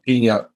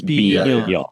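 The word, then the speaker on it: 비녀: It's piño, not piña, not piño. It's piño. Okay, right. Piño. Yeah. So it's separated. The syllable break is between the I and the N.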